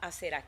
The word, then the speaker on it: Aserá: Y también a la diosa Aserá, porque aquí vi que con un acento en la diosa Aserá, que es la diosa de la fertilidad.